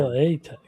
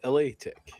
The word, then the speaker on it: La Tech: LA Tech. Gang. He called it LA Tech.